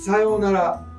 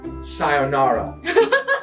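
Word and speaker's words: さようなら: そう、さようなら、not さよなら。Another pet peeve of mine is that Americans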